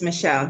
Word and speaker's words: Michelle: Yes, it's Michelle.